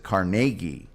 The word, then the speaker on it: Carnegie: I'm a regular Carnegie, as you are. Or as they pronounce it, Carnegie.